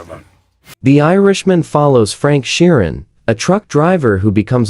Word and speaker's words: Sheeran: Sheeran.